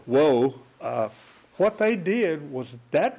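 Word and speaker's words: Juh: Geronimo sensed what was going on, and what Geronimo did, he and his best friend, Woe, that's spelled J-U-H, by the way, Woe, what they did was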